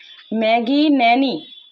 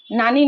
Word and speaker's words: ন্যানি: এখন আপনাদের যেই মানে ম্যাগি ন্যানি, নানি না কিন্তু ন্যানি, বুঝেন তো, ন্যানি।